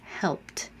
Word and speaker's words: helped: Does it sound like t, helped, or d, helped, or an extra syllable, helped? And the answer is T, helped.